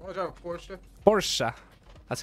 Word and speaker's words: Porsche: Porsche. That's how you say Porsche. And it was, you spell Porsche Porsche P-O-R-C-H-E, but you say Porsche. That's how it's pronounced.